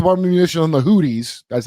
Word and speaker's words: Houthis: So we're going to use a bunch of munitions on the Houthis. That's how it's pronounced.